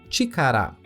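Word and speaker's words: ちから: A sua primeira leitura é chikara.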